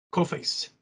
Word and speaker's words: Coface: nos assistindo, a gente que é brasileiro fala Coface, mas qual que é a pronúncia correta? Coface.